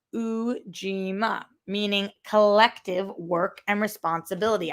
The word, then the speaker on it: Ujima: Oh, pronounced Ujima, meaning collective work and responsibility.